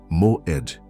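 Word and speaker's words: מועד: Pronuncia comigo em voz baixa se precisar, mas pronuncia Moed.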